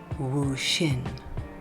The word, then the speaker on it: Wu Hsin: After I created this video, I discovered that the correct pronunciation is actually Woo Shin and that we're not sure if he actually ever existed.